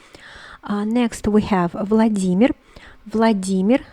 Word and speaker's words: Vladimir: next we have vladimir vladimir so the intonation the stress is on the first e vladimir so here what do